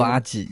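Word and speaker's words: アジ: 接下来是竹荚鱼，日文读作阿吉，也是我的日文名。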